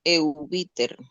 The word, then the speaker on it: Eubiter: Mi nombre se pronuncia Eubiter.